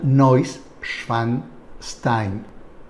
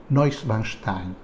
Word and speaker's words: Neuschwanstein: Su nombre significa Nueva Roca del Cisne y se pronuncia Neuschwanstein. Neuschwanstein. Se encuentra al sur de Baviera, a pocos kilómetros de la frontera con Austria.